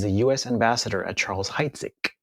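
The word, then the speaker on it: Heidsieck: u.s ambassador at charles heitzig pronounced hide sick uh champagne very very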